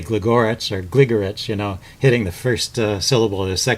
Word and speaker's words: Gligoric: to say gorit or gligorich you know hitting the first syllable or the second syllable but really it's uh there's an even stress on all the syllables so it's a gligorich just uh one two